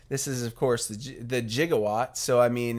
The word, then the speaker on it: gigawatt: friday the gigawatt that's right i believe they pronounce it gigawatt in the movie not gigawatt so this is a simple drink to make